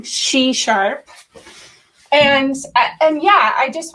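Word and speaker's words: SheSharp: you so much c-sharp i have been pronouncing it c-sharp everywhere but i'm trying she-sharp and and yeah i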